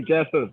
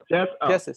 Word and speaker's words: Jesus: i pronounce your name you could say jesus just keep it jesus yep oh jesus okay